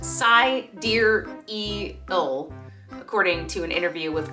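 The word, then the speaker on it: Sideræl: her name is exa dark sidereal yes that's pronounced psy dear e ill according to an interview with grimes and vanity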